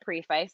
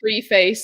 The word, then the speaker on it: preface: it the preface oh yeah preface if anyone pronounces it preface that is not correct in my head i always read it free face and then correct myself in my head to